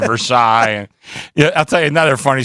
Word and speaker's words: Versailles: A lot of people in Pittsburgh call North Versailles instead of Versailles.